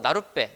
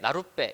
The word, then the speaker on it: 나룻배: 자, 나루배, 나루배, 이거 나룻배, 나룻배 이렇게 발음되잖아요. 그쵸? 뒤에 있는 거 배가 빼로 발음되죠.